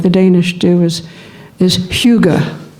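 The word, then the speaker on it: hygge: Danish do is is Huga it's spelled h-y-g-g-e a lot of English people look at it and think it's Higa but I found out it's Huga Huga so what does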